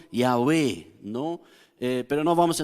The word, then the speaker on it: Yahweh: De hecho, también en el nombre de Dios, que nosotros generalmente en lo evangélico lo llamamos Jehová, ¿no? Pero se ha descubierto ya que mejor sería la pronunciación Yahweh, ¿no?